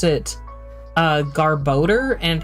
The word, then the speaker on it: Garbodor: it uh Garbo and how many of you pronounce it like garbader or something like anything different than garboder? Cuz I feel like it wasn't until fairly recently that I heard people pronouncing it garboder. And I'm like, okay, that makes more sense than how I was hearing it in my head.